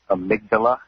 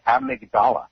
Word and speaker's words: amygdala: I know she's a nurse, but it's pronounced amygdala in the brain.